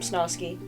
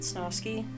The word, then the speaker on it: Snosky: Hi, I'm Snosky. It was supposed to be Snow Sky, but as fate would have it, everyone pronounces it Snosky, and I think I'm gonna stick with it, because I still like it.